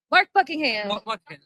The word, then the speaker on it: Mark Buckingham: Mark Buckingham.